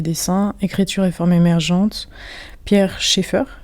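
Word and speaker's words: Pierre Schaeffer: écriture et forme émergente pierre Cheffer ça se prononce comme ça pierre Cheffer impact je sais qu'il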